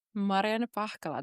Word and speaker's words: Marianna Pahkala: Mariana Pakala.